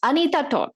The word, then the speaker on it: Anita Toth: Anita Toth. Anita, am I pronouncing your name right?